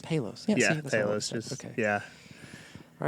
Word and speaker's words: Palos: Palos. Palos.